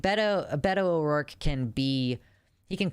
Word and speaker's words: Beto O'Rourke: How to pronounce Beto O'Rourke. Beto O'Rourke. Okay, that's what Google says. Did you guys hear Google? Beto O'Rourke.